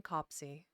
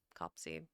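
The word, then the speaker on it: copse: riding through a green copsy cops copsy you know I'm not actually sure how to pronounce that word I've know what it means cops okay so cops there we go the more you know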